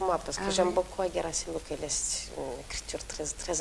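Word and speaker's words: Gherasim Luca: Moi, Gerasim Luca, je le prononce toujours à la roumaine, je le prends par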